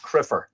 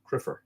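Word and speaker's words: cruimther: Another Irish word for a priest, far less common than sacert, is crumther, but apparently with the lenition pronounced criffer, C-R-I-F-F-E-R, but this original spelling C-R-U-I-M-T-H-E-R, criffer.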